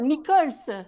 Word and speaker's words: Nichols: Non, Nichols. Nicole Scholz, je suis un malade. En fait, le NI, il était caché. J'ai vu le- Oui, mais c'est anglais, Nichols.